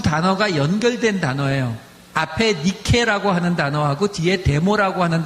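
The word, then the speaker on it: νίκη: 앞에 니케라고 하는 단어하고 뒤에 데모라고 하는 단어가 붙어 있는 단어거든요. 근데 니케라고 하는 단어는 우리가 니케라고 읽으면 잘 이해가 안 되시는데 우리가 영어식으로 읽으면 어떻게 읽냐면 니케는 나이키라고 읽어요.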